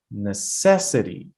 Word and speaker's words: necessity: But the second one is necessity. Necessity. You see, I have to put the stress on the second syllable.